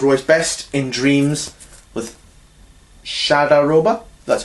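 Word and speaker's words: Shahdaroba: 1963, one of Roy's best, In Dreams, with Shadaroba, that's how you say it.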